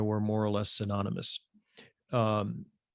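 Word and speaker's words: Berossus: This view is at variance with other classical sources, including Borsos, for whom Chaldea and Babylonia were more or less synonymous. Borosis, I should say, excuse me, I mispronounced his name, was a writer who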